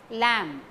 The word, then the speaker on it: lamb: Lamb, last B is silent.